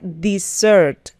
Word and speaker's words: dessert: Postre se pronuncia dessert, mientras que desierto se pronuncia desert.